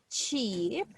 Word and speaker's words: cheap: have to say ship cheap okay and you see this this sound is long cheap g and the difference between this sound and this other one is how long we pronounce it look this one is